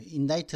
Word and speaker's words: indict: 이거 indict라고 발음하면 안 되고 이걸 갖다가 발음은 indict. 그 인다이트 누구를 갖다가 인딕트 서먼을 갖다가 뭐 누군가를 갖다가 그죠?